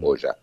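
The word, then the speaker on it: Hoxha: se llamaba enver Hoya se escribe oxa h o x a se pronuncia Hoya eh enver Hoya era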